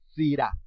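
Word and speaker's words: צרעה: O sea que el avispa o tábano en hebreo se pronuncia como Sirá.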